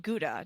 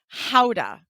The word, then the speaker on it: Gouda: gouda cheese in Holland it's not called gouda do you know how they pronounce it I don't howda howda so I love